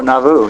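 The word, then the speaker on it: Nauvoo: yes you have you bought four properties at Novo Novo long okay how do you spell that now it's n a u v o o oh navu yeah that's correct uhhuh na long yes and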